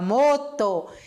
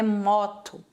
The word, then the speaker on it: moto: La moto, la moto. O O sempre vai ser assim, O, nunca vai ser O, igual a gente fala, não é moto, e sim moto, la moto, certo?